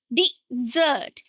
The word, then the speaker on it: dessert: That's wrong. It's desert. Desert. D. The first syllable is not d. It's d. It's e e sound. Okay, short vowel e. Dert. Dessert. And the stress is on the second syllable.